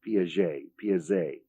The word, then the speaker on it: Piaget: It's spelled Piaget, and it's pronounced Piaget, and it's a beauty.